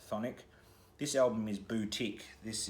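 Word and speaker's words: Chthonic: called sonic it's actually spelled c-h-t-h-o-n-i-c but it's pronounced phonic this album is boutique this is their well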